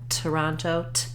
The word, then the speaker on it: Toronto: t typical T sound if I do use the second T in Toronto it's also going to have that puff of air Toronto so when I have